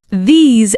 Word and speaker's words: these: These and those start with a soft TH sound, Your tongue comes slightly between your teeth. not D's and dose. No, not dis and that.